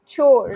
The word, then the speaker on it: chores: It's chores. Household Okay. chores. Yes, yes. Wait. Were you able to listen to that pronunciation?